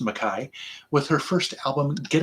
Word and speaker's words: McKay: heard of nelly makai it looks like mckay but it's actually pronounced makai with her first album